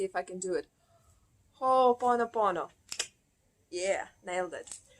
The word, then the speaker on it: Ho'oponopono: I always have hard time to pronounce it, but let me see if I can do it. Ho'oponopono.